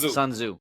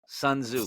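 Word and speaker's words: Sun Tzu: say it yeah sunu sunzo there you go yeah so the t is silent sunzo silent yeah so so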